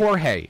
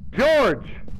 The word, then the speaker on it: George: yeah say the name it starts with a g a soft g okay don't don't call him jorge calm jorge thank you hey george don't bruise god damn